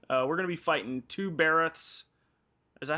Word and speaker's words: Barroth: We're gonna be fighting two Barroths. Is that how you say it? Barroth? Baroth, yeah. Baroth, okay. Don't ask me how to pronounce most of these names.